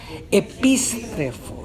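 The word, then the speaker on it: ἐπιστρέφω: A ver, lo pueden pronunciar conmigo, repitan, epístrefo.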